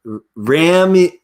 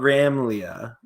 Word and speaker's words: Ramalia: Okay, I've been messing up your name so much, and is Ramalia. It's not Ramlia.